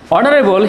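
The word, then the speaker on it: honorable: এইচ এর উচ্চারণটি এখানে silent, নীরব রয়েছে, শুরু হয়েছে অনারেবল থেকে। অ্যান্ড অনারেবল ম্যান, তাহলে এই ক্ষেত্রে কি হবে? এন হবে, কারণ এইচটি এখানে ভ্যালুলেস, এটা লিখতে আসে কিন্তু উচ্চারণে আসে না।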